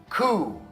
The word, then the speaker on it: coup: Corps of Engineers, ou coup, né? Eles fizeram um coup d'état. Então, vem de um outro idioma e a gente não pronuncia o P.